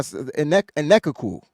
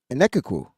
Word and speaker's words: Enechukwu: That's how I Enekukwu. That's how you say his name, I think. Sounds right. Enekukwu. Because the CH gives you a K sound.